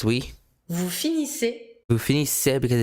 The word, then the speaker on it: finissez: Final Vous finissez. EZ. Finissez. Finissez. Pronounced E.